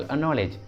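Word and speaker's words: acknowledge: For example अनॉलेज, अनॉलेज में के पहले सी आया है तो सी को प्रोनाउंस नहीं करेंगे, सी साइलेंट होगा, इसलिए सही उच्चारण होगा अनॉलेज, अनॉलेज।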